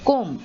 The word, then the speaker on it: comb: are silent moving on see whether b is silent so you have bomb you have climb you have comb many people say give me the comb but that is wrong